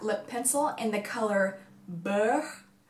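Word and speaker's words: beurre: pencil in the color bow it's be e u RR e it is French for butter and it is pronounced bo which i think is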